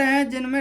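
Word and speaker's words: whose: Exception इसके, ये कुछ वर्ड हैं जिनमें W ही साइलेंट होता है।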